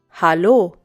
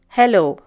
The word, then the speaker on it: Hallo: Notice the difference in pronunciation. It's Hallo and not hello.